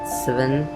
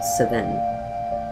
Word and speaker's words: Sven: Uh, I'm going to pronounce it wrong again. Sivven 7, not 7, but Sven Finch, born June 17th, 1915, died August 26th, 1964.